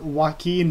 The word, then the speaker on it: Joaquin: It's just that, of course, the J in Spanish makes an H sound, obviously, so that's why